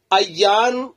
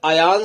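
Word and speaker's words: عيّان: यह है की आप अयन रख लेने यानी इन के जबर और यहां की ताशदीद के साथ नाम रखा जा सकता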